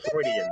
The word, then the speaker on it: Freudian: I think it's pronounced Freudian though. Ask Google. Like, click on the icon Freudian. Yes, I know. Freudian, you said. Freudian. Like, think of droids.